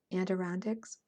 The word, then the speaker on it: Adirondacks: Adirondacks.